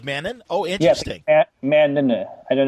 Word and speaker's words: Mann: He's got two N's in his name, and you pronounce the second N, so it's Clay Mann. Oh, really? It's like Mannon? Oh, interesting. Yeah, Mannon.